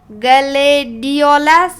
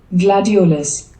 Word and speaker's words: gladiolus: Say it like this. Gladiolus.